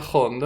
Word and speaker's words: jondo: musical dices pues señores el cante jondo fondo sería hondo en español con h pero con acento andaluz se pronuncia fondo entonces también lo escriben